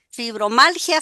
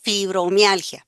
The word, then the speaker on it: Fibromialgia: poco, como algunos de mis pacientes dicen, hasta pronunciarla es difícil. ¿Fibro qué? Fibromalgia, ¿fibro qué? Fibromialgia, ¿verdad?